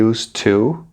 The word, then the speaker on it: used to: Na parte de pronúncia, na expressão used to, a terminação ed tem som de t. Portanto, used, used. Mas como ela é seguida da preposição to, que começa com som de t também, um t vai ser suprimido, né? Apenas um será pronunciado, até porque ficaria difícil, né, pronunciar os dois.